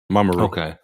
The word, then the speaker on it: Mamoru: of the episode with, how do you say his name? Mamoru. Mamoru. I want to say like Mamaru. Mamiru. Yeah, that's right. Mamoru.